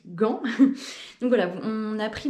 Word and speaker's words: Gand: ou en anglais et différentes prononciations pour vair rester sur le classique Gan donc voilà on a